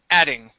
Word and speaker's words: adding: almost adding right here so this is an a sound ah adding almost adding okay nice